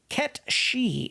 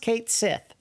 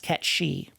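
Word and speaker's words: Cait Sith: Obtained Ket She. It's not pronounced Kate Sith. That is actually a Celtic god figure, I believe. And it's pronounced Ket She.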